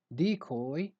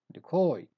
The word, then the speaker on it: decoy: has two pronunciations so either you stress the first syllable and you say decoy or you stress the second cerebellum and say decoy decoy the koi word